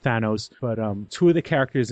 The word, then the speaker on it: Thanos: I always said Thanos, but I've been corrected and said it's pronounced Thanos.